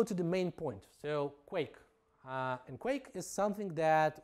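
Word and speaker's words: Quaich: framework for scala and quake basically it's it's pronounced quake and for you for some of you who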